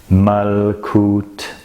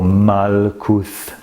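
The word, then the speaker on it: Malkuth: your feet as you vibrate the word mal kut or mal kuth the pronunciation is up to you it doesn't really make any difference it means the kingdom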